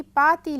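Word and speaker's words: パーティー: देख रहे हैं कि पाती लिखा है तो जैसे जापानी में उच्चारण किया जाता है उसी प्रकार इसको यहां लिखा गया है हिंदी में हम लोग पार्टी कहते हैं कि यह ऑडियो है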